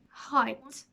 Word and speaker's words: height: end of them and they are silent GH our daughter slaughter no t straight wait eight fight height at the end of the